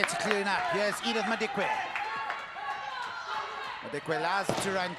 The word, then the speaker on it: Madikwe: Edith Madikwe. Yes, it's spelt with an L, it's pronounced with a D.